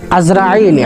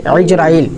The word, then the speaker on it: ইজরাইল: সেটি হচ্ছে যে রাসূুল্লাহ সাল্লাল্লাহু সাললাম বলেছেন যে হযরতে আজরাইল ইজরাইল আলাই সঠিক উচ্চারণ হচ্ছে ইজরাইল আমরা এটাকে আজরাইল বলতেছি যাই হোক আলাইহি সালাতু সালাম